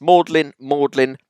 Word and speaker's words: Magdalene: It's Bowie, it's Rowling, it's Mannering, it's Plaistow, it's Holborn, it's Glams, it's Magdalene, the Mall, and it's pronunciation.